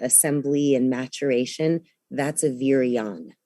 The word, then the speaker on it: virion: A virion is, so I'll spell it because I'm watching the transcription on the bottom.